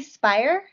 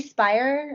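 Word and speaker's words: Speier: what's her name uh jackie spire i think it's how you say it it's a s-p-e-i-e-r i want to check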